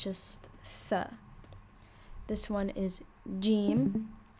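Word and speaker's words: ج: This one is jim. You can pronounce it as ja or ja, whichever one is you feel more comfortable doing.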